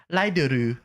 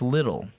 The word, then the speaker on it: Lidl: If someone was like, it's pronounced Lidl. Lidl. They have signs that are like Yeah. a Lidl savings, which makes you think it's little. No, it's Lidl.